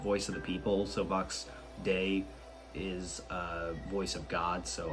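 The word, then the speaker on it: Vox Dei: I absolutely love Vox DI. That's what I'm gonna call it. I don't know how to pronounce it. I'm looking up how to pronounce Vox DI. Vox Day? Why do they just call it Day? Oh, it's the Latin word for voice of God. Oh, it's Vox Day.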